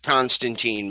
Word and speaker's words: Constantine: as the keanu reeves constantine movie because i love hellraiser as the comic and but it they repeatedly he makes a point of pointing out his name is pronounced constantine in the comics and they never mention